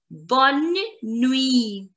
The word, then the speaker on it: bonne nuit: And the next one is bonne nuit. Bonne nuit. Bonne nuit. Nuit. E. T is going to be silent, guys.